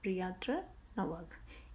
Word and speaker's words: Piotr Nowak: Piotr Nowak, that is a Polish name, that's why it's like pronounced like that, Piotr Nowak, is moving to another nursing home to be nearer to family.